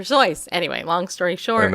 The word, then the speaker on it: Seuss: wrong like doctor sois I suppose doctor sois is really how you pronounce dr. Seuss's name but everybody always pronounce it dr. Seuss and if I was dr. Seuss I'd be very annoyed because my name is pronounced dr. Joyce anyway long story short